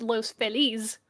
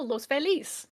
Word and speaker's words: Los Feliz: me- I'm upset that the city that locals call Los Feliz is not pronounced Los Feliz. That irritates me. That has irritated me for a very long time. I am Because the Spanish speaker in me is like, oh, Los Feliz.